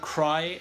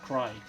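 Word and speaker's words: Crye: mention from 2018 is a swedish band called cry and it's spelt c-r-e-y-e it's a self-titled album this is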